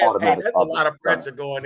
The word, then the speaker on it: Aubrey: Make sure you say his name right. That's Aubrey.